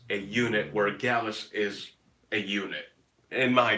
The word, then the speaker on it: Gallus: Gallus rhymes with Dallas, man, and Dallas is the name Yes, of you already my did nephew.